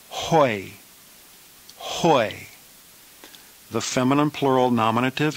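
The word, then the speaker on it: οἱ: letter of the diphthong the plural nominative is pronounced hoi hoi the feminine plural nominative is high high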